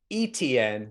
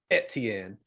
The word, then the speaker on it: Etienne: who travis and i i'm just gonna say etn because people are going to comment but i